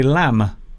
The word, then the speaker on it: lamb: say lamp you say lamb lamb so the M the letter M will end the word so we don't say